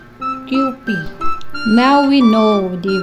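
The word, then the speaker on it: Kewpie: Kai itong 1 Island So yung pronunciation nito guys ay qp now we know '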